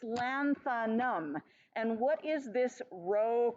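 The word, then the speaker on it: lanthanum: and pronounce it and it's literally just three syllables so go with the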